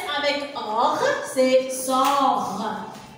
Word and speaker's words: sort: S avec or, c'est sort. Le T, comment elle est? Elle est muette. On ne prononce pas le T.